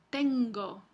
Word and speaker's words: tengo: pronuncia así se pronuncia tengo Entonces el fonema n Toma las características de la siguiente consonante y y el alófono